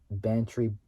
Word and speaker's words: Bantry: Zenith energy including liquid fuels uh terminals in Bantry so Bantry Bantry Bay so Bantry spelled b